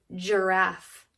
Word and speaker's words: giraffe: say the word giraffe what does it start with you said j right because it sounds like a j you're not going to believe this it's not it's a g that hard g sound comes when the g has an i after it or an e after it this only happens with c's and g's with the e and the i afterwards so let's practice